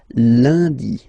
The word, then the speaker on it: lundi: Okay, remember, UN is pronounced like un, lundi, lundi, lundi.